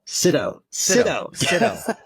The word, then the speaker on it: Sydow: Sydow? Sydow. You got to get mad on the front end, not the back end.